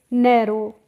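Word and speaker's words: narrow: ओ डब् लगा तो जो ओ डब्लू लगा होता है यहां पर हम डब्लू का प्रोनाउंस एशन नहीं करते हैं तो इसीलिए हम इसको पढ़ते हैं नरो और नरो का मतलब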